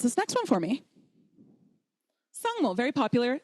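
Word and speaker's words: བཟང་མོ: Sangmo, very popular name, but we don't say psangmo, we say sangmo.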